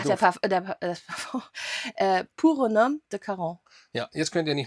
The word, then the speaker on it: Pour un Homme de Caron: Das Parfum, Pour un homme de Caron. Ja, jetzt könnt ihr nicht meckern, weil das ist richtig ausgesprochen.